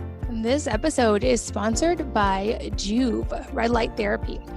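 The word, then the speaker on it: Joovv: to say 15 this episode is sponsored by juve red light therapy it's a natural form of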